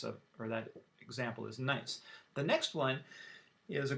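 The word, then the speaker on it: gneiss: shouldn't have that one number four is called nice it's pronounced nice not nice and this is a an example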